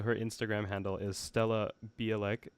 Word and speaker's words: Bialek: if anybody out there is from Poland, then maybe you can tell me how to actually pronounce my name. Right. Yeah, so her Instagram handle is Stella Bielek.